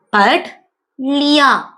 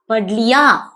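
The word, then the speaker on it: पढ़ लिया: இதை எப்படி ப்ரொனவுன்ஸ் பண்ணலாம்? படித்து விட்டேன். பட் லியா. பட்லியா.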